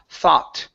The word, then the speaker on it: thought: of saying th okay the o u g there in the middle that's an a sound so it's thaw thought okay thought good so he never